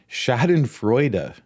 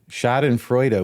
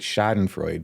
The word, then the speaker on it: Schadenfreude: That thing that you're rightly going to want to accuse me of is actually pronounced Schadenfreude. Schadenfreude with a duh on the end. I always called it Schadenfreude, but it's Schadenfreude.